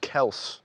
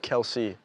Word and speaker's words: Kelce: For those that don't know, Travis Kelce's last name is pronounced Kelse, not Kelsey.